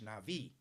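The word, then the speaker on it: נביא: And the Hebrew word for that was navi. Sometimes it's spelled N-A-B-I. That's why in ancient times, if you wanted advice, you wrote to Dear Nabby.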